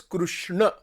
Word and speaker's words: Krishna: The actual pronunciation is Krishna.